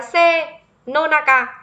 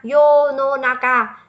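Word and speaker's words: 世の中: là dễ rồi, chắc chắn nó sẽ không đọc là senonaka, nó quá là đơn giản rồi.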